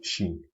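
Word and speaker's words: شين: So just like the Jin, we are trying to hit the middle point here hit this middle point of the tongue to the roof of the mouth. And we'll try to pronounce Shin.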